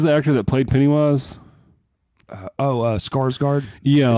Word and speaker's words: Skarsgård: Skarsgård. Yeah, it's like, actually pronounced like score. Yeah, well, but nobody says that because it's like a soft A.